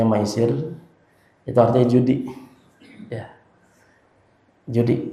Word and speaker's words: maisir: Kata maisir, huruf mim, ya, sin sama ro, bacanya maisir, itu artinya judi.